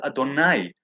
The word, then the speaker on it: Adonai: And the name of God is written Yod He Vav He, but pronounced Adonai.